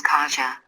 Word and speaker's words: Kaja: Usual pronunciation in US is more or less like this. My daughter's name is Kaja. Which is correct and which is according to US English pronunciation standards, and that's usually the default pronunciation which I'm getting from English native speaker. The thing is that my daughter is Polish, and this name should be read according to Polish pronunciation rules.